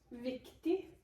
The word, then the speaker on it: viktig: Viktig. Hold on. There's a silent G at the end, if that helps at all.